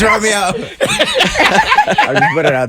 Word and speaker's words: Romeo: It's just Romeo. So Romeo.